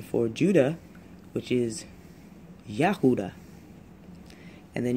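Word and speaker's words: יהודה: So let's say you have the Hebrew pronunciation for Judah, which is Yahuda. And then you have the Aramaic pronunciation, which is Yehuda. So you have that E in there instead of the A, but that's just regional.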